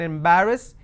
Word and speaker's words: embarrass: So where do we have the pronunciation in embarrass? In ba, embarrass.